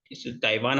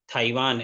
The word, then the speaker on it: Taiwan: कि जैसे कि जो ताइवान हम बोलते हैं, ये गलत उच्चारण है। जब मैं इस टॉपिक पर रिसर्च कर रहा था मुझे पता पड़ा कि इसका सही उच्चारण ताइवान नहीं, थाईवान है।